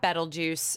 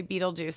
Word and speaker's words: Betelgeuse: But I definitely don't say Betelgeuse, and everybody's like, you're saying it wrong. And it's Betelgeuse, Betelgeuse. It depends on where you're from.